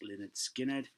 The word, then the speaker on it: Lynyrd Skynyrd: This is the debut album, Lynyrd Skynyrd, pronounced Lynyrd Skynyrd.